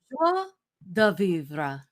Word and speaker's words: joie de vivre: Joie de vivre.